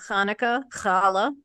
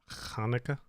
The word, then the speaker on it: Hanukkah: because I don't know yeah like uh yeah Hanukkah okay cool all right that's answered the question if that's the pronunciation of it Hanukkah all right there you go trying to get